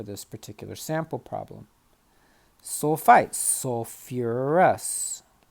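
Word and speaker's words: sulfurous: particular sample problem sulfites so fewer arrests keep that second syllable in just like we did with phosphorus sulfate sulfuric acid okay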